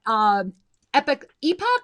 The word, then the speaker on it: epoch: And that brings me to a reminder that epoch or epic? I always say it wrong. It's spelled epoch, but they call it epoch.